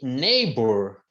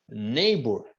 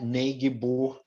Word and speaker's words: neighbor: é o direito e neighbor neighbor não é neb não éb o g não é pronunciado é neighbor neor neighbor